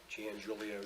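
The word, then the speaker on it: Giangiulio: you appear for the board please P Gan Julio Jr that's spelled g i a n g i u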